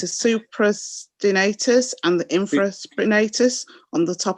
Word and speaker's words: supraspinatus: You'll have to forgive me because I'm not sure if I'm going to pronounce these correctly, but it's a supraspinatus and the infraspinatus on the top of the shoulder on the ridge.